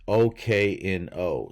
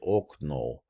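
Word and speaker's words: окно: So you don't say okno, but the accent's on the last syllable, okno. So if it gets to stress, then you say like oh, but if it's not stress, it sounds more like ah.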